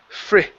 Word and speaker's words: fridge: Instead of fish, okay, give me a short I sound. The word is fridge.